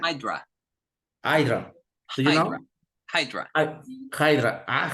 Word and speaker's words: Hydra: um Ginos yes H idra do you know idra Hydra Hydra HRA Hydra Hydra ah Hydra ah okay